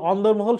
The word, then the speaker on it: অন্দরমহল: তো অন্দরমহল শব্দটির উচ্চারণ কি হবে দেখো, অন্দর মহল, আমরা দেখতে পাচ্ছি এখানে ঠিক আছে।